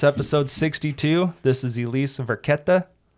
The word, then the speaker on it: Varchetta: See, this whole time I'd been pronouncing it Varchetta. Right. This whole time. But this when I wrote, your first lesson in Italian. Yeah, your CHs are pronounced as Ks.